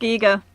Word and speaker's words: Giger: work obviously inspired a lot by H R Giger H R Giger Giga it's pronounced C eager I learned that like in the last 24